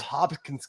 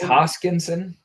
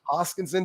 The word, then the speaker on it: Hoskinson: I don't think Charles Hopkins. I always say his name wrong. I think it's Hoskinson. Hoskinson.